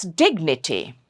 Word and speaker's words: dignity: So the third syllable from the right here is dig. So it's dignity.